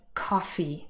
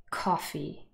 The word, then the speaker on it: coffee: we had the word coffee before two syllables stressed on the first syllable coffee now if i stress this word incorrectly on the second syllable it would sound like this coffee coffee i would